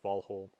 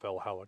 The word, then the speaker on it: Valhǫll: Old Norse form so I'll say for instance vhole not Valhalla glamer not not glimer